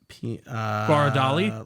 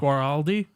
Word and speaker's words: Guaraldi: Okay, so Vince Guaraldi. God, I probably- Vince, Please try again. let me look at his name. Vince Guaraldi. Guara. No, stop. Guara. Guaradali? Line it. No. Guaraldi. Guaraldi, thank you.